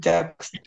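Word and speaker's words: sagst: নাকি জাগস্ট একসাথে বলতে হবে জাস্ট জাগস্ট একসাথে জাক্সড জি ভাই আপনি এটা 10 বার বলেন তুমি বলো তুমি বলো ডু জাক্সড তুমি বলো ডু জাক্সড তুমি বলো ডু জাক্সড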